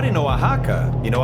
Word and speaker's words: Oaxaca: okay but not in oaxaca you know oaxaca the x is like an h in english right man-made sandbar is